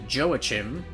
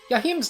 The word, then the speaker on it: Joachim: Despite starting my early Castlevania obsession by calling him Joachim, I know, you can make fun of me all you want, I later learned of how to actually pronounce his name, and everything just settled in afterwards.